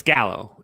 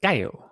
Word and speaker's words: Gallo: or guy it's because it's spelled gallo g-a-l-l-o right it's not joey it's it's it's i mean it's italian it's gallow if it's latino it's kaio there's a difference but yes no i